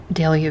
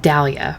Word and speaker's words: Dahlia: so Conway disappearance at Delia view I would pronounce it Dalia but I guess the English would say Delia I've been sitting watching